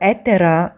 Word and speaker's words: Etar: for you after this we visit atar or ETA as it is pronounced in Bulgarian this is an ethnographic